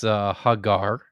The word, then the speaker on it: Hagar: So just so everyone else sees what Vishanti's getting at, the name is Hagar. That's how you pronounce it for Hagar.